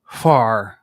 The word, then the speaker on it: Hvar: But the word begins with an H. Okay. Hvar. You have to pronounce the H and the V very quickly.